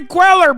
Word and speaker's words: Cuellar: Henry Cuellar, brother, that's how you say it, goddammit.